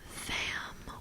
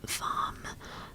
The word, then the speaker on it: vam: g yes not twice this sound is vam or vom the crystals that go